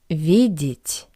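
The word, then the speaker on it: видеть: Vidit. Since the wall is unstressed, I pronounce it as e.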